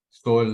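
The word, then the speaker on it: Sol: don't know um oh he says Saul in in Spanish so it might be pronounced differently Soul like like the sun Soul Zoom user yep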